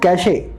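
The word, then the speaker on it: cache: चलिए अब दूसरा वाला कैश देखते हैं। मुझे हंसी आती है, इसको मैं देखता हूँ कुछ लोग दे प्रोनाउंस इट कैशे, कैशे, है ना। तो कैशे नहीं होता, ये कैश ही होता है।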